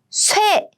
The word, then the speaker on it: 쇠붙이: 티읕 with 이. They are combined as in 치. So let's read it together. So 쇠붙이. It means iron.